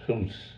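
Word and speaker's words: Goes: the village of Hoos, G-O-E-S, pronounced Hoos.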